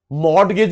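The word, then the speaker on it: mortgage: एक ही बात है एम ओ आर टी जी ए जी टी साइलेंट होता है। मगेज मतलब मोट टीचर की इंसल्ट होएगी।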